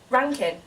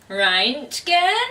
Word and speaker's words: Reintgen: It's okay, I only know that it's actually pronounced that way because he's just written it on his website, so... Otherwise I'd be there like, Reintgen?